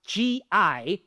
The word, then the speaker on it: GI: This abbreviated word pronounced gi means the same as pualu in French or lanzer in German.